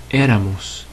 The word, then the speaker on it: éramos: Again, we're not on the next last syllable, and it ends in NS or vowel, so we're going to put an accent on that first E to show we're breaking the rule. Éramos. Éramos. Stress on that first.